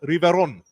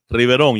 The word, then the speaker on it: Riveron: We were talking with the coordinator of ACC football officials, Al Riveron, or if I want to say it like my Miami roots, Al Riveron. Riveron, you have to roll the R.